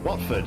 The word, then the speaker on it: Watford: watford dad what football watford yeah is it the t silent though no it's watford okay okay i need